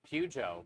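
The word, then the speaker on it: Peugeot: Oh, there's no T. That's how you say it. Pujo.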